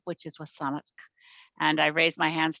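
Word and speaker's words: W̱SÁNEĆ: of my riding and saanich is actually a mispronunciation of the name of the indigenous peoples on whose territory i live which is wasan and i raise my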